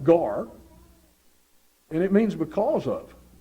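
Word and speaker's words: γάρ: Greek word is it's a little word it's pronounced gar and it means because of God could have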